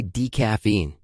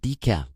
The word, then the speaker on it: decaf: In English, we don't say decaffeine. We say decaf. 한 번 더 발음을 말씀드리면 decaf, decaf 라고 읽어요.